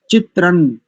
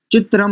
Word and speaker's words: चित्रं: आ जाए सबको देखिए चित्रण चित्रम नहीं मा नहीं करेंगे अनुस्वार का उच्चारण यहां मा नहीं करेंगे ना करेंगे ना नकार चित्रण देवा ना मुद